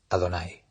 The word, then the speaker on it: Adonai: el nombre de Adonai, está escrito en el tetragrama Javayá, pero en cambio decimos este nombre y pronunciamos Adonai.